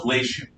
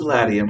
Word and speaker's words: Latium: the plane of lation it's spelled latin but every time i'm dealing with a serious latin scholar they say no no no it's not caesar it's kaiser and it's not the plains of latium it's the plains of lation so call on what you will it's spelled latium i'll say lation but i'm not going